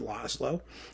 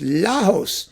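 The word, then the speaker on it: László: don't care Oh Laos his name isn't a lot of slow it's Laos lenses something and the Parisi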